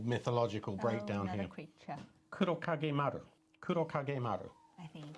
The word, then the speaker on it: Kurokage Maru: So we have some reference to these, because this is only really supposed to be pronunciation, not a full mythological breakdown another here. creature. Kurokage Maru.